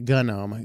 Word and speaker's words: GNOME: Yes, both pronunciations are considered correct. Gnome and a gunnome go figure.